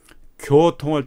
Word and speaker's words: 교통: 베트남 학생들이 내가 보니까 교통할 때 교 교할 때 발음을 내 입모양을 한번 보세요 교 교 교통 입을 이렇게 쭉 내밀었죠 교 교통 고통이었다 거통이 아니라 교 이렇게까지 내밀어야 돼요 교 경 경 경